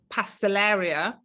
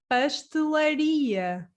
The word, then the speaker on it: pastelaria: and my subscribers are telling me that i pronounce uh uh pastelleria uh incorrectly yeah please for all of my